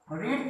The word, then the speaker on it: read: Third form कैसे होता है, रीड की तीनों फॉर्म सेम होती है, स्पेलिंग सेम होता है, प्रोनाउंसिएशन अलग हो जाता है। तो रीड, रेड, रेड, बट the spelling is same, आपको रेड लिख देना है।